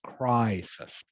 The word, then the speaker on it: crisis: the way now lynn this word is pronounced crisis yes i think you said crisis i think yes yeah um again um sometimes as you know the i is pronounced um i or e all right there are three different pronunciations and unfortunately there is no rule for this you just have to learn the word okay so in this case the eye is pronounced crisis yes like it is white we all need to